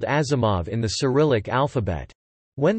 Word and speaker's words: Asimov: spelled in Western letters, Asimov's father spelled it with an S, believing this letter to be pronounced like Z as in German, and so it became Asimov.